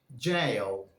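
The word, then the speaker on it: gaol: The right pronunciation for that word is jail, jail, which is the alternative spelling for this word, jail.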